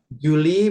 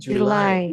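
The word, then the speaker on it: July: Kemudian Juli bukan Juli ya, tapi Julai. Julai Julai. Julai. Kalau Juli bahasa Indonesia ya.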